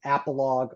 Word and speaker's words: Apologue: Um and then appalog laours. Appalog is a P O L O G E.